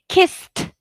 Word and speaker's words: kissed: d not id okay kissed kissed kissed what can you hear eid kissed kissed yes kissed okay it should be too kissed because voiceless folded folded folded what do